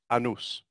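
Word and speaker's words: annus: time now the word year in Latin is pronounced anews which means an indication of a circle now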